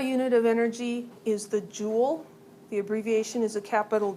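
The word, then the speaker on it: joule: of energy is the jewel the abbreviation is a capital J uh it's it's a French word but it's pronounced Jewel like you would have a jewel in a crown so that one's important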